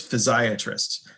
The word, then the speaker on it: physiatrist: of those then there's physiatrist that's what I am a physiatrist is a rehabilitation physician some people call them physiatric and it can be confusing because it rhymes with psychiatrist or pediatrist um but this is